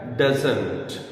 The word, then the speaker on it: doesn't: You must keep in mind, ये बात भी आप ध्यान में रखें कि जब नेटिव स्पीकर्स बोलते हैं तो वो इस टी को प्रोनाउंस नहीं करते, इसको ड्रॉप कर देते हैं.